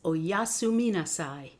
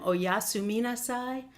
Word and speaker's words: oyasuminasai: repeat after me so that you get the pronunciation so it's good night then we Japanese is oyasuminasai let's do that one more time oyasuminasai oyasumi nasai Spanish you all know right buenas